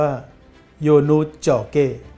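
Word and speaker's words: Ionuț Gheorghe: กับ นัก มวย รมณีย์ ชื่อ เขียน แบบ นี้ ครับ แต่ ออก เสียง เป็น ภาษา โรมาเนีย ว่า โยน นุช เจาะ เก้ อา โอ ลิมปิค สมัย นาน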